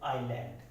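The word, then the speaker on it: island: तो जो एस है वो क्या हो जाएगा, साइलेंट हो जाएगा। जैसे आइलैंड, जैसे आइलैंड, यहाँ आई के बाद एस आ रहा है तो क्या हो गया, एस साइलेंट हो जाएगा।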